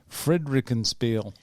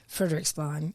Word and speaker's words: Frederiksberg: That Courtney Devine, F45 gym manager in Frederikenspiel. Frederiksberg is how you pronounce that.